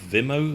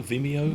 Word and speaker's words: Vimeo: I mean, um I I can never pronounce is it Vimo? Vimeo.